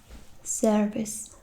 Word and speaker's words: Servus: hello, and then it's service, service, service, service. It's like you would say it, but you don't really say it. I mean the R.